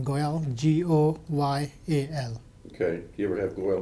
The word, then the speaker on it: Goyal: first name v-i-n-a-y last name goyal g-o-y-a-l okay you ever have loyal mispronounced oh yeah go yeah gorilla s goyal